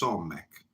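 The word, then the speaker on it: Samekh: Samek pronounced Somek.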